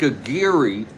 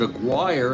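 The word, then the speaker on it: Aguirre: going to be Hank a giri I used to pronounce it a guire and then I heard Spokan Steve pronouncing it a gir so we'll go with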